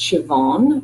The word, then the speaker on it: Siobhan: bit more about me my first name is pronounced Siobhan which is an Irish name that means Joan in English so my full name is Siobhan I'm an organizational